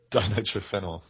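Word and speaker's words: dinitrophenol: do you want to do like a real pronunciation that Ben D din triphenol yeah or DMP din trenel or DMP thanks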